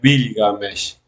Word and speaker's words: Bilgamesh: Gilgamesh en sumerio es Bilgamesh. Bilga, primero se decía Bilga, después en el periodo de Lagash y Ur se decía Gilga.